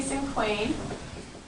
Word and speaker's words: cinquain: Now today we're going to learn about a type of poem called cinquain. You can say it cinquain or cinquain. There's a whole bunch of different ways you can say it. I say cinquain.